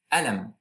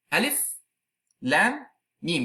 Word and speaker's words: Alif Lam Mim: You cannot pronounce it as Alam. It is Alif Lam Mim. You pronounce the letters separately.